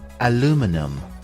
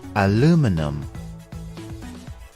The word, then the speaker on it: aluminum: have two different pronunciations the American English pronunciation is aluminum aluminum and in British English